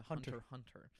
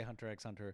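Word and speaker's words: Hunter × Hunter: I'm like it's actually just Hunter Hunter. I used to say Hunter X Hunter.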